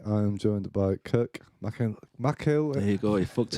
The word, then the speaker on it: Mcelhinney: Mcelhinney.